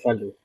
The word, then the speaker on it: Fallot: Is it fallot or fallow? Tetralogy of fallow, right? Follow.